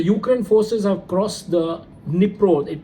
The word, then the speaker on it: Dnipro: In news from Russia and Ukraine war zone, the Ukraine forces have crossed the Dnipro. It's actually spelled as DNIPRO, but where D is silent, it's Dnipro River, for the first time